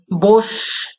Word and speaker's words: বসু: এভাবেও লিপি বিভ্রাটের মধ্যে দিয়েও ধ্বনি পরিবর্তন হতে পারে, কিন্তু আসলে বাসু নয়, বসু উচ্চারণটা হয়ে থাকে।